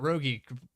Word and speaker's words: Rogie: back, and then Nathan we were pronouncing that Rogie, correct? That's what I've been saying, yeah. Okay. I think that's we had a talk there post race one time, and that's how he said it.